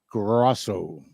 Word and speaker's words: Grosso: Grosso. Actually, if I was over in Italy, it would be pronounced Grosso.